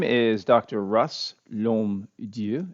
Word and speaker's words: L'HommeDieu: name is Dr Russ lomu it's pronounced LOM of course it's French so it's kind of